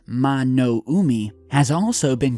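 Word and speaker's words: 魔の海: the devil sea or in Japanese pronounced mono Umi has also been called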